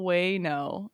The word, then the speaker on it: Wano: Way like a whale. Way no. There's a hidden H in there, Molly.